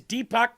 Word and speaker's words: Deepak: That's right, Deepak. That's how you pronounce that.